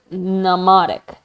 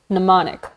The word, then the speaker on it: mnemonic: Same Greek root as the word mnemonic. Mnemonic. The M is silent.